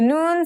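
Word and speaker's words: نون: right it means i the noon sounds just like the english n let's remember how to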